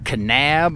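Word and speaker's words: Kanab: look just went through the town of canab I guess is how you pronounce it k a n a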